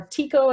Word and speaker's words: Tycho: right here is called Tycho or Tico if I've heard it pronounced - but I like to think of it it's Tycho kind of like the Dutch astronomer Tycho Brahe call it what you